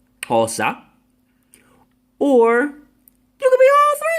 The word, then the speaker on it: Xhosa: Let me help y'all out with that word. That's an X pronunciation in Bantu, Xhosa.